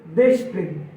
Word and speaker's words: দেশপ্রেম: রয়েছে আমরা ভুল উচ্চারণ করি আমরা যে বলি দেশপ্রেম শব্দটির প্রমিতি উচ্চারণ হবে দেশু প্রেম দেশপ্রেম না গণহারে প্রায়